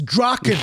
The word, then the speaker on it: Drachen: It's Drachen." And I'm like, "No, it's not. It's a German word. You pronounce it Drachen.